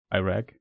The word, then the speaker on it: Iraq: Iraq. How was it pronounced chat? Iraq. Okay. Iraq like like German with a with the English R.